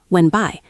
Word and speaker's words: went: The T in went is often very soft or even silent when we speak quickly. Went by.